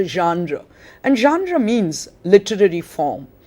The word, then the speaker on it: genre: notice that the word because it's a french word is pronounced genre and genre means literary